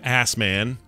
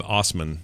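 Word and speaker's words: Assman: quote an unacceptable slogan CBC reports the ass man yeah this is Kramer's Kramer's I know it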